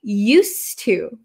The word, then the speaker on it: used to: a little bit okay used to used to so this D kind of disappears because it's followed by a t used to and it's